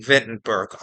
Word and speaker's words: Wittenberg: But if you don't speak German, W is often pronounced as V. Vittenberg.